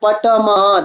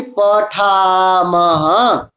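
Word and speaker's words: पठामः: Not patamah. That is pa, tha, tha, maha. So that will be pathamah.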